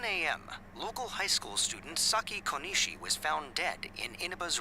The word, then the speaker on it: Saki Konishi: local high school student saki konishi was found dead in Ina's residential area you're saying it wrong it's sake Kishi since the body was positioned similarly to the